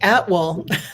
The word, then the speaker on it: Attwooll: pronounced it great, Attwooll. Oh, okay, Attwooll.